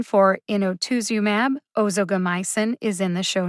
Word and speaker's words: inotuzumab: the written pronunciation for inotuzumab ozogamycin is in the show notes too one of the trickiest things about pronouncing drug names is the vowels when i looked up